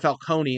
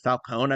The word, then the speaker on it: Falcone: Like, I don't know why they say the E in Falcone, where they pronounce it they pronounce it Falcone instead of Falcone. I've never heard it pronounced that way before.